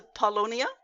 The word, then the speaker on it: Paulownia: But I'm so glad you brought up it's a Paulownia. Is that how you Yes.